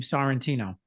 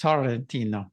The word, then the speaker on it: Sorrentino: When we were in Italy, here I say my name Sorrentino, right? But in Italy, they roll the R's. It's Sorrentino, Ecco, sì, Sorrentino.